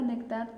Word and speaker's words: néctar: tónica se tilda néctar la palabra néctar también tiene su sonido fuerte neck terminen r por lo tanto podemos tildar